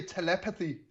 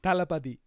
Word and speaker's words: Thalapathy: I say telepathy, but that's not correct then. No, Telepathy. Thalapathy.